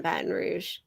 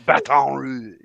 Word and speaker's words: Baton Rouge: say that out loud pretty sure it's pronounced Baton Rouge baton rou no only if you are not local it is Louisiana it is Baton Rouge welcome in elfish tanks